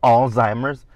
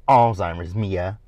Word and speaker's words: Alzheimer's: Do you have Alzheimer's? And Mia was like, wait a minute, that ain't cool. Now, Mia can't pronounce Alzheimer's.